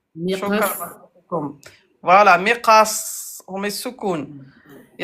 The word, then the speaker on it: مقص: Et à l'arrêt, comment on va le prononcer? مقص. Voilà. Miqas.